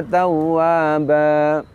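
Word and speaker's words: توابا: Ingat bahwa mad iwad ee lama bacanya adalah hanya satu alif atau dua harakat saja. Sehingga apabila kita memanjangkannya melebihi satu alif atau dua harakat, maka ini termasuk lahan khofi.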